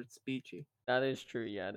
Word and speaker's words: Speechy: Isn't it speechy though? I'm calling her Spetchy because that's what it is, so it doesn't matter. Okay. It's spelled Spetchy. That's stupid that she calls her Speechy.